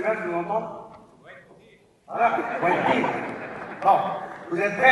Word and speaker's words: Quentin: Français, là, le nom, la prononciation du nom de Quentin, à l'américaine, comme monsieur le maire. Allez-y, monsieur le maire, je vous entends. Voilà, Quentin.